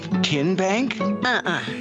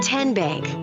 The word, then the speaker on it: TN Bank: you enroll wildcats role how do you say the name tn bank no tin bank so what is it ten bank ten as in tennessee right here where all